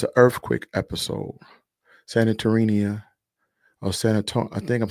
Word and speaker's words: Santorini: Santorini, or I think I'm saying it right, Santorini.